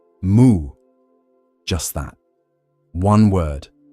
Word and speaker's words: Mu: Number not no, as in rejection, but mu, as in as in empty, as in beyond yes or no.